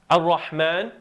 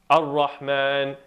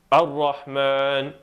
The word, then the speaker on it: Ar-Rahman: Suppose you have a word like Ar-Rahman. A person pronouncing it incorrectly or not very precisely would be saying Ar-Rahman. And if you isolate the sound on their fatha, the sound is like a as opposed to And